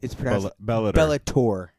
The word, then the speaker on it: Bellator: de are well actually no it's it's it's Bellator that's not what you said well I'm sorry